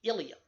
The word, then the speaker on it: ileum: just pronounced that way there are two parts in the body called the ileum the ileum is part of the small intestine and it is also part of the pelvic box I remember that from our skeletal system there pronounced the exact same way but the pelvic